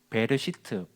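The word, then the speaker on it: בראשית: 베르시트, 좀 더 발음을 하게 되면 베레시트가 됩니다. 우리가 베트, 알렙벳 할 때 베트를 배우는데 이 베트가 그자하고 비슷하거든요.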